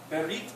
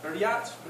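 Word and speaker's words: בְּרִית: So it's pronounced berit, beriat, something like that.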